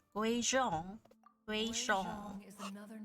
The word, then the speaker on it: Guizhong: Guizhong.